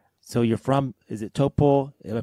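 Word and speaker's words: Taupō: So you're from, is it Taupo? Have I pronounced that correctly? Close. It was pretty good. I lived there. It's Taupo, and I lived there for about 4 years.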